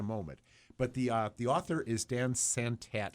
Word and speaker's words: Dan Santat: But the author is Dan Santat, and I'm not sure I'm pronouncing his name right. That is right.